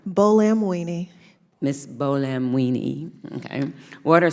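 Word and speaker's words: Buolamwini: Bolamwini.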